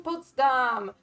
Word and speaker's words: Potsdam: Dam potam po no poam is the Polish pronunciation poam would be the German pronun the German one and yeah we were in Potsdam and we went to the most important Park